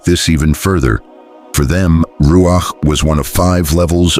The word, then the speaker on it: ruach: In Hebrew there's the word ruach pronounced ruach which shows up over 300 times in sacred texts.